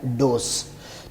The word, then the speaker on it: dose: الگ لفظ ہے ڈوز، اور DOSE ڈوز پڑھا جائے گا اس کو سین کے ساتھ، خوراک جو دوا کی خوراک ہم لیتے ہیں اس کا درست تلفظ ہے ڈوز۔ بولنے میں ہم اس کو جسے بولتے ہیں ڈوز، یہ غلط ہے، جبکہ صحیح اس کا ہے ڈوز۔ تو دوسرا ہے جی